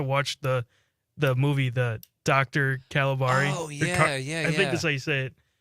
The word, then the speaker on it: Caligari: How do you say Caligari, right? Yeah. Wait. With his own statue? No, he keeps wanting his daughter to watch the movie, the Dr. Caligari.